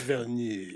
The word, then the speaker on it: Villeneuve: I believe it's pronounced Villeneuve.